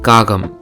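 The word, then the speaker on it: காகம்: Tamil word for Crow: kagam this letter in the start makes the sound K but in the second position it makes the sound G similarly this letter in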